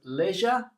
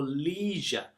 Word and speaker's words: leisure: So leisure or leisure, two different ways to pronounce this word.